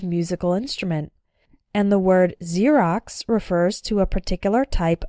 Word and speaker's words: Xerox: ex-girlfriend ex-husband or ex-wife when X starts a word then it's pronounced like Z there are very few of these words in English but a couple of them are xenophobia xylophone and Xerox xenophobia means fear of